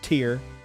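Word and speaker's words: Tir: It's pronounced Tyr, but we're gonna go with that.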